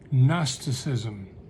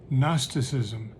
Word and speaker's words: gnosticism: idea was something called gnosticism with a silent g at the beginning gnosticism a belief that there